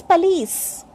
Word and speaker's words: police: And POLICE, some people say police, and the correct pronunciation is police. This is police.